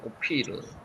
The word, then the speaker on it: 오빌: 요게 실제로는 오피르라고 읽혀집니다. 오피르. 오피르.